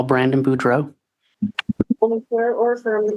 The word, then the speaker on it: Boudreaux: Can you state your name and spell it for the record? My name is Brandon Boudreau.